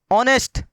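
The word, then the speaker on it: honest: आगे देखिए ऑनेस्ट, होनेस्ट लिखा हुआ नहीं है, ये होनेस्ट लिखा हुआ नहीं है, ये क्या लिखा हुआ है?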